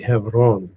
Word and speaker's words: Hebron: Now, you have another city called Hebron further to the north, or Hebron, or Hebron, as it's sometimes pronounced. Correct pronunciation for that would be Hebron.